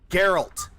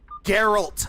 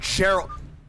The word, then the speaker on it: Geralt: Geralt. Geralt of Rivia, not Geralt.